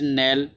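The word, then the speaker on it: kneel: नेल, ठीक है ना, के साइलेंट होता है, नेल माने गिरना है, डाउन नीचे, लाइक ए हॉर्स, हॉर्स की तरह वही नीचे तुमने गिरना है।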